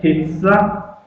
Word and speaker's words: pizza: And unfortunately, many students mispronounce the word pizza. Pizza. So it is s. Don't say z. So it is pizza.